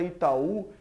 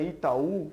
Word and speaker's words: Itaú: sílaba força acentuada e na palavra Itaú a gente vê que é última sílaba que tá acentuada no caso ainda é